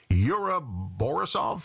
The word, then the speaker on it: Yura Borisov: Now, here's a name I can't pronounce. Yura Borisov.